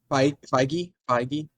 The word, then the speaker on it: Feige: Get Kevin Fahey in. Is that how you pronounce his Yeah, last I name? mean, Feige, I think.